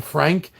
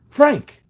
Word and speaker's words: Franck: His character's name was Franck. And Steve couldn't say it right. He kept saying Frank. And he kept Franck.